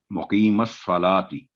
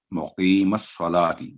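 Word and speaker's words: مُقِيمَ الصَّلَاةِ: जा सकता है, तो मीम पर फतह है जबर है, तो स्वाद को पुर करके मुकीमस सलाती, और लाम को हम गोल नहीं करेंगे।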